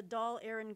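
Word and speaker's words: Dáil Éireann: okay doll and then aaron okay for the doll aaron government and for war relief and shaped public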